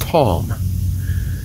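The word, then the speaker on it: תם: a plain man now the hebrew word for plain there is tom t-a-m it's pronounced tom and what that means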